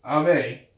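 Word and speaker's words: Avé: So the Ave, I'm trying to pronounce it right, Ave. brother. Ave.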